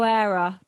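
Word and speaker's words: Heura: she'd figured it out because they don't pronounce h's do they in in spain herrera herrera it's something like that oh era but it begins with an h okay we're such we're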